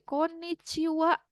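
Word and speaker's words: こんにちは: Ya, konnichiwa, benar. Tapi bagian akhirnya menggunakan H, tidak apa-apa, memang seperti itu untuk selamat siang atau selamat malam, Anda menggunakan konnichiwa, dan apa yang ada di awal?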